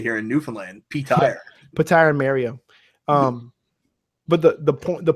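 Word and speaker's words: Petyr: Patar. That's how they pronounce it in the book. Like in the that's how it's not Peter, it's Patar.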